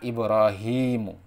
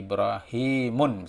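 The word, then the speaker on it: إبراهيم: Contohnya Ibrahimu, ya, nama Nabi Ibrahim itu non-Arab. Maka di sini tidak boleh tanwin. Jadi Ibrahimun misalkan tidak boleh.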